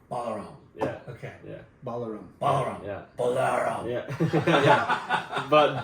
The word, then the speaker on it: Balaram: I mean, I honestly, it's hard to correct people because of how much it gets said in Yeah. different ways, but I say Balaram. Balaram. Yeah. Okay. Yeah. Balaram.